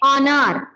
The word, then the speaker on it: honour: Then next one इज एन ऑनर, HONOUR, हॉनर नहीं बोलेंगे, क्या बोलेंगे, ऑनर।